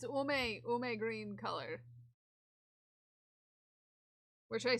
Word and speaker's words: Ume: It's Ume green color.